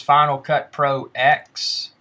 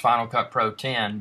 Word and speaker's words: Final Cut Pro X: to do today is Final Cut Pro X well it's actually pronounced Final Cut Pro 10 but what we're going